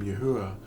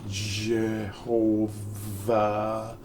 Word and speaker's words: Yahuwah: And the 4 letters of the name Yahuwah are all vowels. All 4 of them. There's no J. It's not Jehovah. That's not it. That's not his name.